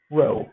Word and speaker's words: rho: that the Greek symbol Rho so that is pronounced looks like P hood sounds like our row okay this is the population correlation coefficient and